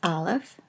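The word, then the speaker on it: אלף: The first letter of the Hebrew Alef Bet is Aleph, and it is a silent letter in modern Hebrew. It originally was probably something like just the stoppage of air that you have when you say the word apple. You can see that your throat closes when you say apple, and it probably originally was pronounced that way.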